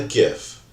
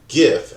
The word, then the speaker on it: GIF: then there was a gif I noticed that while we pronounce it gif as in gift or GIF like giraffe regardless a gif holds